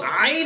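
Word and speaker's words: ع: মুখ লড়বে না আইন আইন এটা আইন বললাম ঠোট কি লাগছে এবার আবার প্র্যাকটিস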